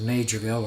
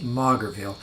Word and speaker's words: Maugerville: in the community of major bill or some other people pronounce it as ma Grabeel once again thank you